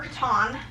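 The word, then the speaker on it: Catan: basically the setup rules for katan or katon. Katon is how you say it apparently.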